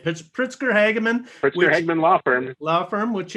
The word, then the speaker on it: Pritzker Hageman: He is the Chief Marketing Officer at Pritzker Hageman. Is that how you pronounce it? That's exactly right. All right, Pritzker Hageman.